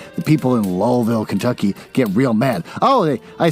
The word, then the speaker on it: Louisville: Oh, don't say Louisville, say Lowellville. If you don't say it that way, the people in Lowellville, Kentucky get real mad.